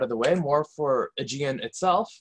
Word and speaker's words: Galapagos: So now that we have the philosophy out of the way, more for Aegean itself, it's pronounced much like the archipelago in the sea, and it combines two existing frameworks.